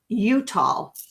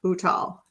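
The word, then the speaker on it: Uttal: we also just interviewed Jai utal Utah not utal I have to make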